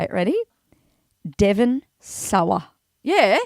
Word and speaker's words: Sawa: Devon Sawa. Yeah. Devon Sawyer. Sawa. Are you sure? Sawyer. It's spelled Yes. S-A-W-A.